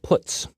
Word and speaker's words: puts: They are pronounced printf, putchar, and puts.